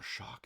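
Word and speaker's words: Shough: Tyler Shock, is that how you say it? Somebody was telling me, because I called him Show, and I think it's Shock, Tyler Shock.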